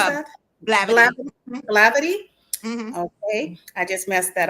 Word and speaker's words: Blavity: You guys are featured by outlets like BET, Rolling Stone, and Blivid. Bllidi. I'm not pronounced that. How do How do you pronounce that? Blavity.